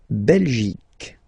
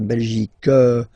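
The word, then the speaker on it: Belgique: French okay okay La belic okay remember here you will get only the sound C okay belic belic so it's not belg not at all okay because it's only the belic okay Denmark so same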